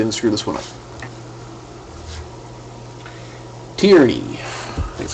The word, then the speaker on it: Tierney: Tierney. That's how you pronounce it.